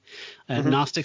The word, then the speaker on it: Gnostic: Gnostic with a silent Gnostic stuff and and manachism.